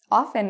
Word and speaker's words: often: If you hate the way the T sounds, often is also good, okay?